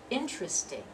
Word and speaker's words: interesting: Prostate that second syllable so we pronounce that word interesting interesting with only three syllables the next one temperature